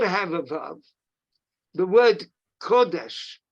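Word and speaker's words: קודש: there's also word kodash now kodesh is not written with a verb it's got a holum which makes the same vowel the same vowel sound but it's just pronounced kodesh and it is it's not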